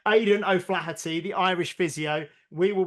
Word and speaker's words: Aidan O'Flaherty: I keep getting his name wrong. Aidan O'Flaherty, the Irish physio.